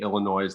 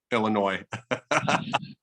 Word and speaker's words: Illinois: now because of that illinois do you but do you normally pronounce the s uh i don't know